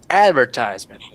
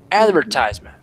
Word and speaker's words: advertisement: In the US is most commonly used advertisement. And with an stress. accent. Yes, with an accent with it. Yes, with an accent on the first syllable. Advertisement.